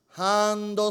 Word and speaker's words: ハンド: I wanted to buy what is the proper Japanese pronunciation for this item is it's a sir the proper Japanese pronunciation for that item is Hondo so thank